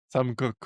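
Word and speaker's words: Koch: Euh tu vas tu es le digan successeur de notre de notre comment tu le prononces ? Coque. Sam coque.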